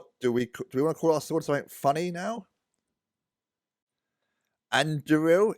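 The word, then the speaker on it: Andúril: Anduril is how you pronounce it.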